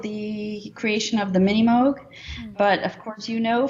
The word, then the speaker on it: Moog: spectrum it's you know some people think the name is pronounced mook but it's moog that's something something i'm